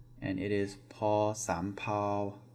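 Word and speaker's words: ภ สำเภา: This is also a P sound, and it is paw sam pao, paw sam pao. So paw rising, sam, and then flat pao, paw sam pao.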